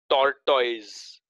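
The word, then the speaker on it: tortoise: अ टर्टाइस, टर्टाइस, टॉर्टॉइज, Indian, okay, we are Indian, so first pronunciation टॉर्टॉइज. और अब आते foreign level पर, टर्टाइज, टर, टर्टाइज, टर्टाइज और टर्टल भी बोल सकते, टर्टल.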